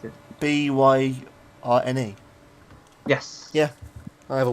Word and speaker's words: Byrne: Burn. Oh, is that how you pronounce it? Byrne.